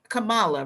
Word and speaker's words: Kamala: i predicted predicted that it would be kamala kamala really is the pronunciation of her name as vp uh karen